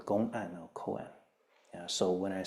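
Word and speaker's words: koan: Buddhist uh world as Coen Coen is again the Japanese pronunciation of the Chinese term Ganan Co k o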